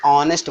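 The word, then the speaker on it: honest: Means ईमानदार होता है, अब इसे ऑनेस्ट बोला जाता है, हनेस्ट नहीं बोला जाता, ऑनेस्ट।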